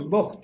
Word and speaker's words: بخت: تو عراق کا ایک بادشاہ تھا بخت نصر، یہ اس کا تلفظ بخت ہے، بے کے اوپر پیش ہے.